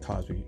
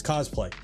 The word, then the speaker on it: cosplay: play whatever it's called it pronounce like Cosby cosplay it's cosplay any cosplay props movie props